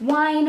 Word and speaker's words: Wein: is Codename Verity by Elizabeth Wein, or Wein, however you want to pronounce that.